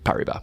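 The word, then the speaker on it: Paribas: Uh it's Pariba, but you know it's it's French. godamn. Um just like if you're going to be in France, you should probably say it correctly.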